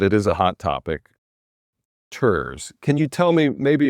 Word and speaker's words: TIRZ: The Tax Increment Reinvestment Zone, I said it wrong for many years. TIRZ brings tears to my eyes thinking of TIRZ. It's TIRZ.